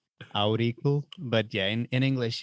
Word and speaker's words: Auricle: It's pronounced Auricle, or how is your product? Auricle.